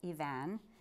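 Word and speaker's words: Eavan: And finally, I'm going to read some poetry by Ivan Boland, uh, a woman. Her name, first name is spelled E Van, and it's pronounced Ivan.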